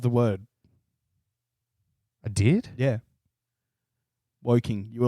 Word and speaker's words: Woking: You did pronounce half of the word. I did? Yeah. Woking.